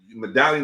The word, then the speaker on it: Medallyun: And y'all could, you know, Medallion is spelled different. It's MEDALLYUN, like medallion.